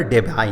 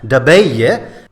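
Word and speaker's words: Debye: वैसे इनके सरनेम का डच प्रोनाउंसिएशन होता है डबेय, लेकिन अमेरिकन्स के लिए ये प्रोनाउंस करना मुश्किल था, तो वहाँ पर जाके यही सरनेम यही बन गया डेबाय।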